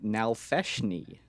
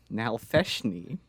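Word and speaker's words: Nalfeshnee: So this week on Mystery Monster Madness, the monster I've got for you is called the Nalfeshni. Say that again? Nalfeshni. Now, can you spell that?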